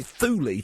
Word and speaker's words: Thule: I always called it Ultima Thule, but apparently Thule to rhyme with Julie, which takes some of the kind of drama away from it.